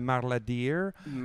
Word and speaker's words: Marla Deer: Marla Deer, exactement comme ça s'écrit puis ça se prononce.